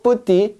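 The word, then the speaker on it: petit: 하고 S 붙였는데 자 프랑스에서는 여러분 마지막 자음 발음을 별로 안 해 거의 안 합니다 그래서 결국 똑같아 자 보세요 얘도 쁘띠 얘도 그냥 쁘띠라 읽습니다 쁘띠 쁘띠 그러니까 남자는 다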